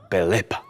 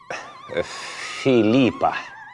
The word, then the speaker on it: Пилипа: я вам родила короля Пилипа. Філіпа? Я сказала Пилипа. Я дитину назвала Пелипо. То ви не вимовляєте тверде пи.